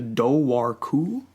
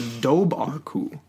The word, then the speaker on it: Dobhar Chu: is known as the Dobhar Chu or the Dobhar Chu. It's basically two different main pronunciations of this thing.